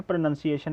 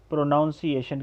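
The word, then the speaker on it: pronunciation: उसके बाद है प्लम्बर गलत है, इसका करेक्ट प्रोनंसिएशन है फ्लामा. उसके बाद of course प्रोनंसिएशन, इट्स प्रोनंसिएशन. इसको वो लोग गलती से प्रोनाउंसिएशन कहते हैं, दैट इज़ रॉन्ग. प्रोनंसिएशन.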